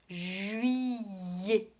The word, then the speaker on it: juillet: Juillet. Е-т дает нам тоже звук «э».